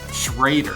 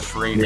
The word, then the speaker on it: Schreuder: How do you say it right? Schreuder. Schreuder. I always want to say Schreuder, not Schrader. Yeah.